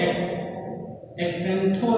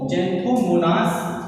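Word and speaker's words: Xanthomonas: तो यहाँ पर एक्स मतलब यहाँ पे क्या होगा, इसे हम लोग एक्सेंथो नहीं पढ़ेंगे, जेंथोमोनास पढ़ेंगे।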